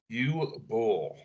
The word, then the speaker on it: Uwe Boll: And how do you pronounce his name there, Nick? Uwe Boll.